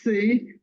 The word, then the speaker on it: Seay: don't have uh sound you pronounce my name like the alphabet C oh okay C because it spell SE